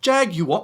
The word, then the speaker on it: Jaguar: brand Jaguar in the US is actually just Jag, you what, mate? In the UK, just Jag, you what, mate? You know, they go to pronounce it correctly, but then they get a bit upset.